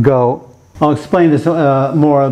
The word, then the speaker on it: 狗: This is pronounced go.